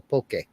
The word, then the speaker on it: poke: over there they call poke p o k e and they pronounce the e as a a and it is